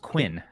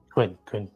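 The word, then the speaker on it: Kun: the Coon, but it's pronounced Quinn, according to Taki, anyways. Quinn.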